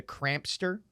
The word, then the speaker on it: Crampster: I'm worried about mispronouncing this name, but it's the Crampster. Okay. Like hamster, but with a K.